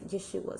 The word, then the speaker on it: Yahshua: But to me, what made sense to me was when I studied this and I saw Yahshua, okay, and when it came to, the person who was teaching me how to pronounce it, it was Yahshua.